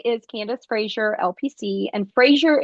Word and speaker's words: Fraser: Candace Frasier LPC and Frasier is spelled like eraser with an F so f r a